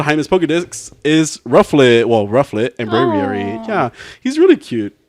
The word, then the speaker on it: Braviary: They Braviary. really didn't even try. Braviary. Braviary. It's a What brave rhymes with Ariel. It's a brave bird.